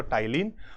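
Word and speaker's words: Ptyalin: होते हैं एक तो टाइलिन और एक होता है लाइसो जाइम है ना टाइलिन और लाइजो जाइम ये आप सोचोगे मैं बोल टाइलिन और आगे पी भी है पी साइलेंट है तो टाइलिन का काम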